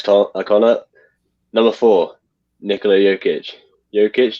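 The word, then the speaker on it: Jokić: your victim complex tom number four nicola jokic yokitch jock itch i always forget how to pronounce his name that as well maybe one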